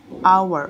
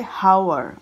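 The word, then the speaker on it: hour: number three you see H is a consonant but it doesn't sound like a consonant it sounds like our oh you are our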